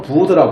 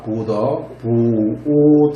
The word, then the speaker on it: 붓다: 그럼 뭐 온갖 설명들이 많은데, 발음은 부더라 부릅니다. 부더 이렇게 발음하죠.